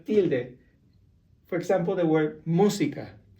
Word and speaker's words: música: For example, the word música. Música has a little tilde on the U. That means that now you have to stress the word on the first syllable, música.